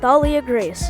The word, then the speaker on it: Thalia: There's also Thalia Grace.